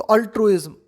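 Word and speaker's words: altruism: तो अल्ट्रुइज्म, अल्ट्रुइज्म यहाँ पे जेड की तरह प्रोनाउंस होता है, ये एस की तरह प्रोनाउंस नहीं होगा, है ना।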